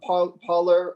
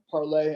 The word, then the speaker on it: Parler: Can you talk about what you see as the future of Parler or Parlay? I think it's pronounced Parler, Gab, and others, which are drawing viewers from the major platforms.